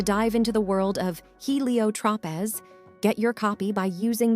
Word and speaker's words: Heliotropez: And if you're ready to dive into the world of Helio Tropez, get your copy by using the link below or go on Amazon. It's spelled HELIOTROPEZ.